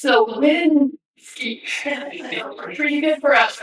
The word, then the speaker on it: Cywinski: It's Cywinski.